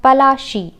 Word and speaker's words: Palashi: in India is foreign how Plassey got its name is an analyzed pronunciation of palashi and the place derived